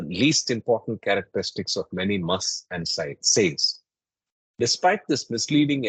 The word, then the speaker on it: mast: to the supplements so must the word must which means one who is intoxicated with Divine love is pronounced to rhyme with the English word trust so must Trust my aim has